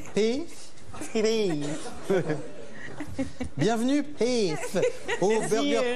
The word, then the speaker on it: Pef: Et comment on prononce en fait Pef ou Peuf? Pif. Pef.